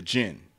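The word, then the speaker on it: djinn: characters for this film the gin spelled with a d it's a d j i n n the gin is played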